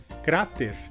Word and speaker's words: cráter: No caso, em espanhol, a sílaba mais forte seria a primeira, cra, e em português seria a sílaba t.